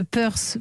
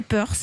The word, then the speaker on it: Peurce: Vous avez 26 ans, vous êtes la fondatrice de Peurse. Peurse, ça s'écrit P-E-U-R-C-E.